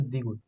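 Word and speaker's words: 디귿: এই যে এই দাগ এটার নাম হচ্ছে দ্বিগু দ্বিগুতে পাবেন হচ্ছে দ থ ত চার নাম্বার চার নাম্বারটা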